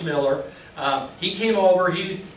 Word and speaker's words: Mueller: my my my father's Father Peter Miller is pronounced Miller um he came over he he was he